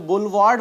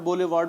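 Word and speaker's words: boulevard: तो बुलवार्ड word use करते हैं, उसे बोलेवार्ड, बोलेवार्ड बहुत से लोग प्रोनाउंस करते हैं, बुलवार्ड होता है असल में प्रोनाउंसिएशन इसका।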